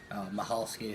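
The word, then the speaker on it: Michalski: Mahalski, spelled with a silent C or silent H, whatever, silent C.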